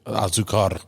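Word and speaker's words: Azúcar: We do, the Azuca, I believe it's pronounced Spanish for sugar. It's azucar. Yeah, the R is silent. That's the one time you don't roll the R.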